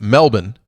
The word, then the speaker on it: Melbourne: Melbourne, pronounced Melbourne, airport, Christmas Day.